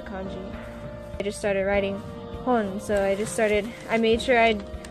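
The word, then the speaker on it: 本: By itself, it's hon, but when combined with other kanjis, it can also be pronounced moto.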